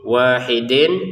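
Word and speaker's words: واحد: Jadi wahidin terbacanya wahid. qalqalahnya ataupun pantulannya jangan lupa wahid karena dia adalah bagian dari baju di toko ya harus dipantulkan kecuali kita menggabungkan ya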